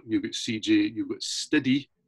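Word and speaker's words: Stidi: So you've got Ginger, you've got CJ, you've got Stiddy, S-T-I-D-I. So that's not just my pronunciation. That's Stiddy on drums.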